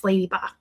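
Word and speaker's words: Ledyba: It's spelled L D Y B A, but it's Ladyba.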